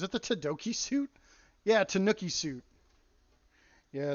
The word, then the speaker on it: Tanooki: the raccoon I thought it was called the Tanuki suit Tu n i Tanuki suit Mario is it the todoki suit yeah Tanooki Suit yeah it's spelled like this um we